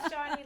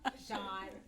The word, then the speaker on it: Chawne: But see, I say Shawnee like, I know the E is silent. I just think it's cute, Shawnee. Okay, fine, Chawne.